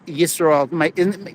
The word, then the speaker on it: Yisroel: Yisroel. People call me Israel, but it's spelled with a Y.